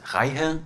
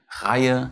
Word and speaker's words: Reihe: If you have a H after an EE though, it does not make it longer, but belong to the following syllable. Good to see by the words Reihe and Leihen.